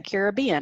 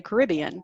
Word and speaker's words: Caribbean: Like some people say Caribbean and some people say Caribbean.